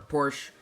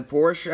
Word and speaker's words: Porsche: and the designer was Porsche or Porsche kind of depends on where you lived how you pronounce that word anyways with its exaggerated body work slant nose front and massive rear wing the Porsche 935 4.5 may be